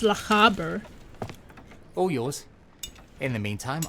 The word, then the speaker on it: Lochaber: So it's pronounced Lochaber.